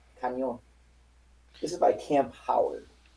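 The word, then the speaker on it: Cañón: C-A-N with a squiggly over the N. O with a little line upward slanting over the O. N. Spelled like cannon, but it's pronounced Canyon.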